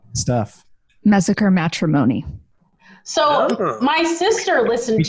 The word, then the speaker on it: Mesecher: Mesecher.